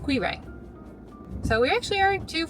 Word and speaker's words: Quiraing: Time to go to the Quiraing walk. 20 minutes. If you have a better pronunciation for that word, let us know. We'll ask ChatGPT just like we ask ChatGPT everything later. So it's pronounced Quiraing.